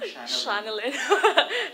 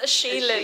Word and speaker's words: Shaylin: I also mispronounced your name the first time, Shanalyn. It's Shaylin, actually. Yes.